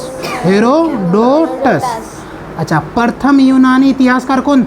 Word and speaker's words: हेरोडोटस: देखो क्या इसका थोड़ देख लो हेरो हेरो डोस ठीक है हेरोडोटस अब आपको ज वहा उच्चारण करने में अच्छा रहेगा इसलिए लिख दिए ठीक